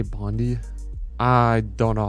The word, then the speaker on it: Bondi: Bondi. Bondi. That's how you... Why would I care about that? How you pronounce that?